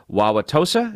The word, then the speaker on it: Wauwatosa: going to probably not apologize to the town, Wauwatosa? Is that beautiful? How you pronounce it?